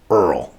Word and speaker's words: IRRRL: And today we're going to talk about the VA IRRRL, pronounced like one of my favorite TV shows of all time. My name is Earl.